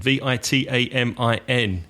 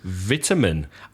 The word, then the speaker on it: vitamin: Vitamin. Vitamina in Spanish. So vitamin. Oh man, you mean vitamin? Yeah, that's how the Americans say it. Vitamin. Stressing the first syllable.